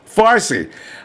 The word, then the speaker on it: Farsi: How do you pronounce that? Farci. Farsi.